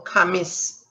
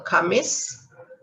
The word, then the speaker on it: Khamis: a ha sound so kamis uh the h is silent with a ka sound so kamis juma there's two a's